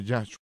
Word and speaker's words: Yahshua: El énfasis es siempre en el sagrado nombre de Dios. Y esa es la razón de por qué debemos pronunciar Yahshua.